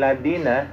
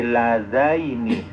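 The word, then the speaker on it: اللذين: Wa qala allazina kafaru rabbana arinal ladzina Lada ini ya, jangan ladina. Nah ini kalimat satu-satunya ya. Jangan ladina tapi lazaini.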